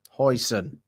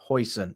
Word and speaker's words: Huijsen: Hoison. Thank you. That is what I needed. Hoyson. So, I I have been saying that name wrong for quite some time.